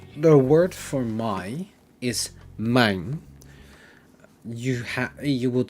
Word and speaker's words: mijn: So for the possessive pronouns, the word for my is mijn. You would spell it with M-I-J-N.